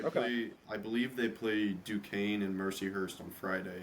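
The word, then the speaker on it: Duquesne: Uh is it Duket, I think is how you say it. Dukane.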